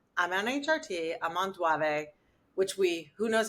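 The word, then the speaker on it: Duavee: I am on it, and I use the French pronunciation of it, Duave.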